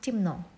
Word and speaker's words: темно: Темно, we write темно, but we pronounce темно.